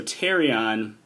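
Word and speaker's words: pterion: together called your terion spelled with a p at the beginning it's silent p uh so tarion is where your middle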